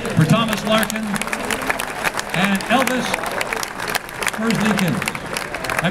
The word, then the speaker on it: Merzlikins: How about a nice hand for Thomas Larkin and Elvis Merzlikins. I pronounce that well?